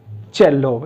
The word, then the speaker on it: cello: चेल्लो, ये एग्जैक्टली इस वर्ड का सही प्रोनाउंसिएशन है चेल्लो। और यहां मैंने वही लिखा था, ये च है, ये ए है, ये ल है, और ये ओ। चेल्लो, इट्स चेल्लो।